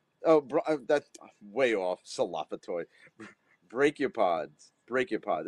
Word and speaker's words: brachiopod: Brachiopods.